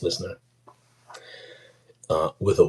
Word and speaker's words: LYSNYR: If you sounded out what it was called, listener. It's pronounced listener.